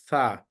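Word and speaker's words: ثاء: So easy way to pronounce these 2 letters, just take out the tongue outside, then touch the teeth on the top of it. Make the tongue as a spreaded one, not a heavy one, not a bold one.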